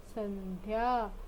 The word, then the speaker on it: संध्या: तो इस शब्द का उच्चारण हम कैसे करेंगे, स न ध या संध्या।